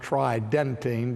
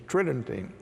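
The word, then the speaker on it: Tridentine: Tritton tain which sounds like it would be pronounced tri dentine but the normal pronunciation is Tritton T and so when we look to the conciliar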